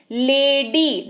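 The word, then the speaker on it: lady: लेडी, double syllable सुनाई दे रहा है आपको, लेडी, लेडी यानी कि महिला। तो यहां पर भी वाई है लास्ट में, लेकिन ई जैसा उच्चारण हमें सुनाई दे रहा है।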